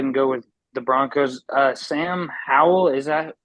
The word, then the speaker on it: Sam Howell: Sam Howell, is that how you say his name?